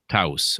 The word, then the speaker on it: Taos: Is it Taos? Taos. Okay. Taos. There we go. Thank you, Wikipedia. The Taos Hum. Okay. Have you ever heard of the Taos Hum? The Taos House? Taos House.